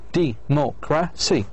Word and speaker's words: democracy: Like the word democracy, democracy, 4 syllables. So, democracy, 1, 2, 3, 4. So, you put the stress on the anti-penultimate, mo.